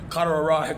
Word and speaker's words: carotid: He say carotid, kind of like corduroys, carotid artery.